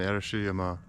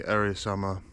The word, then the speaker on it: Arashiyama: Right now I'm in the Arashiyama Forest Park, which is like on the outskirts of Kyoto City.